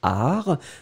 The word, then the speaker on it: art: La première chose, c'était bien sûr le substantif art. Souvenez-vous, et vous l'écrivez bien, A-R-T, le T final est totalement muet.